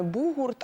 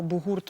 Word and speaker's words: бугурт: А саме бугурт або бугурт можна і так, і так робити наголос.